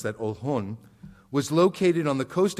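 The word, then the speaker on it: Oljon: is how it's been spelled in Spanish we pronounce that old hon was located on the coast of what's now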